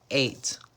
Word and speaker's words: ate: have Drive drove eat ate how do you pronounce this word it is the number 8 so in present tense